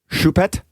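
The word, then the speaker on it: Choupette: all kinds of confusion how do you say it shu is like cabbage MTI Shu when a in French you would say the French one so it's a cabbage pet it's a cabbage pet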